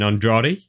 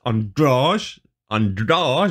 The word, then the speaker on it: Andrade: just listened to embedded and uh anik was pronouncing it on george so yeah i i was saying andrade oh well it's not it's androg on doors i don't know how to get that but